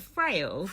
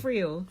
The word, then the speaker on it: Friel: Is that how you pronounce it? Frail? Friel.